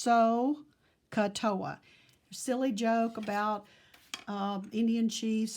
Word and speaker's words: SOHCAHTOA: of pronouncing that because it really should be pronounced so katoa silly joke about Indian cheese sohcahtoa and the